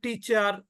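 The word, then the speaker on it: teacher: atmosphere at most কেউ বলবে টিচার কেউ বলবে টিচার টিচার টিচার আপনি মুখের কাছে হাত নেন আপনি টিচার বলবেন টি মানে খুব চাপ দিয়ে বলবেন টি সেখানে কিন্তু বাতাস বের হবে না ওই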